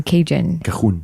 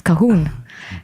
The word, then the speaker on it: Cajun: But Nico doesn't pronounce Cajun. Cajon. It's Cahoon.